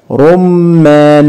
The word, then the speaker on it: رمان: خدنا قبل كده كلمه رمان رمان مشدد بالفتح الصوره الاخيره صوره تفاح لاحظ